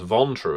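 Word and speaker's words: Ventrue: so I think the ventu as a clan I've heard them pronounce vontu as well sometimes uh are just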